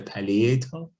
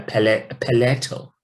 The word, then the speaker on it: palatal: the paleto the palatal i just realized i've been referring to this as a palliative and then i was i looked up the articulation of this word in american english they pronounce it as a palatal palette the palette that